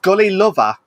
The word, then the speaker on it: Gullilover: it all, is interview with the streamers of Gully Lover. I had to pronounce it right.